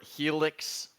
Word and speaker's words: Helix: formal apology to the felix holland nation i'm sorry for getting your name wrong this whole section up again dude it's helix he looks followed uh